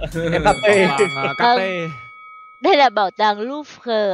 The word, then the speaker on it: Louvre: Vâng, đọc là Louvre.